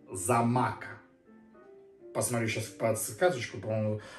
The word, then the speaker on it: Xaymaca: ром Господа ямайский производитель Ямайка но так говорить не надо кка читается как зама посмотрю сейчас под сказочку